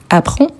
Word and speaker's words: apprend: Apprend, apprend, apprend. Le DS ou le D à la fin, on ne les prononce pas.